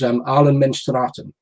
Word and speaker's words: Allemansrätten: In Sweden, it's called, and my pronunciation of it is Allemansrätten, which means, I see you laughing, Mick.